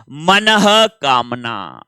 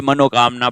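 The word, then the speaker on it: मनःकामना: अपन कहते क्या है कि हे भगवान हमारी ये मनोकामना पूर्ण कर दो, फिर वो पूर्ण नहीं होती है। क्यों नहीं होती है? क्योंकि हम उच्चारण ही गलत कर रहे हैं। मनोकामना नहीं, मनः कामना।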